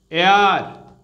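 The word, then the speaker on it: heir: এয়ার, এটা খেয়াল রাখবে তোমরা, এর প্রোনাউন্সিয়েশন এয়ার। ঠিক আছে, এইচ সাইলেন্ট থাকবে, তাহলে সেক্ষেত্রে হবে অ্যান।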